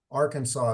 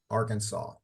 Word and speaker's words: Arkansas: state and it has a s uh Arkansas Arkansas is how you pronounce this state Arkansas so that'll be the first half of class